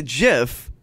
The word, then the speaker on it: GIF: look it up the guy who invented the jiff came out and said yes he said the correct pronunciation is ji f I'm just over now